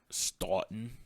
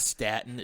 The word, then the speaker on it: Staunton: Staunton? Yeah. Not Staten. It's spelled just like Staten, but put a U after the A.